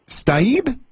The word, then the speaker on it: Staib: Is it Staib? That's the German way to say it. The Americans say Staib, so I'm Staib.